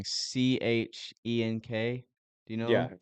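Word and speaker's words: Cenk: Chehnk. Do you know Yeah, him? yeah. Turk, That the Young Turks, yeah, and Shank. Shank. That's what it is.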